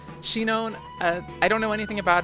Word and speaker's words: Shinon: Okay, Shion, I don't know anything about him, or Shinon. Wow, I totally just got his name wrong. Shinon, I don't know anything